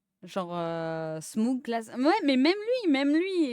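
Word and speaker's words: Smough: Genre, Smoog, classe.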